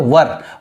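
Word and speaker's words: were: तो इट्स रूलरसोंग्स पढ़ते इसका सही उच्चारण जो है उसको बोलते हैं वर वेयर नहीं बोलते ठीक है वर बोलते हैं वेयर गलत है वर सही है और अगर एक रूलर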